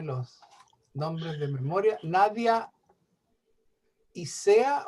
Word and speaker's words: Ysea: por no saberme los nombres de memoria Nadia isea o no sé cómo se pronuncia tu nombre Nadia Sí isea iscea isea buenos días cómo están buenos días también de